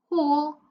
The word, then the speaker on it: whole: And for our last line, whole, light, foreign, talk. So I'll just give you a few more seconds to tell me which letter is silent in each of the words, okay?